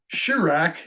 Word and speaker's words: Shureq: And so whenever I pass the shoe rack, my kids are used to me stating that Shurak is a Hebrew vowel.